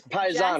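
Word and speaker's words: paisan: thanks for responding renee um it's pies on rachel nobody collected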